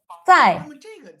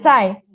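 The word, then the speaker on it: 采: Por ejemplo, cai tiene en el fondo tiene dos pronunciaciones diferentes.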